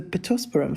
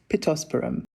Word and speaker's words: pittosporum: was coming from the ppum flower I had to look up the pronunciation I'm not pretending that I knew how to pronounce ppum but it's pittosporum so she loved this